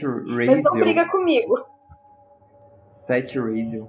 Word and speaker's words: Seth Raziel: Seth Raziel. É porque o TH é entre os dentes, assim, é Seth Raziel.